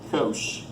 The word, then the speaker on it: cosh: They got a little h in them for the hyperbolic, and we pronounce this sinh and cosh.